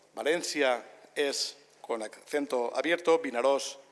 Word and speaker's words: Vinaròs: Valencia es con acento abierto, Vinaròs es como se escribe, Castelló de la Plana es sin N, y así sucesivamente.